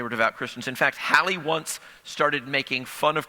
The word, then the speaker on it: Halley: You've heard of Halley's Comet. We're all mispronouncing it. He pronounced it Halle.